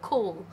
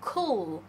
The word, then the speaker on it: cool: cool 嘅意思就唔係一個人型嘅意思啦，就係好涼爽啦。It's really cool right now。咁就係講緊而家相當涼爽啦。咁佢 cool 嗰個字咧都發得好準嘅，cool cool。咁呢個字咧點解好多香港人都發得唔準咧？就係因為佢哋忽略咗 dark l。嗰、那個發音嘅方式啊，如果你要發出 dark l 依一個音嘅話咧，其實咧你喺講個 cool 依個字嘅時候咧，你發完 u 依個 vowel 之後咧，你條脷點一點上去，但係唔使落翻嚟，個口合一合埋，咁你就會讀到個 u 嗰個音噶啦，就係、是、cool cool 嗰個音啦。It's really cool right now.